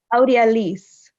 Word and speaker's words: Audi Elise: but thank you can you say your name audi elise thank you oh you really pronounce that well thank you